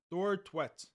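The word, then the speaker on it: Thorstvedt: You say Thor, then you say tweets. But it's more like instead of E in tweet. So Thor, tweet, Thor Twet. Thor Twet. You're saying it's Thor Twet?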